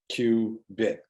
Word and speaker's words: qubit: polarizations are the archetypal qubit pronounced q bit meaning quantum bit quantum bits are things